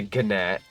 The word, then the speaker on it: gnat: The G is silent, my guy. But it's funny to say gnat as opposed to nat.nats are annoying, actually.